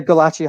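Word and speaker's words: Gulácsi: say it ioun gach Brendan you're you're yeah gachi 100% yeah curs yeah h gachi eily can't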